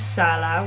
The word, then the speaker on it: Salah: my last name is Salah which is what I always say to people if they don't know how to spell that it's salad without the D um and um the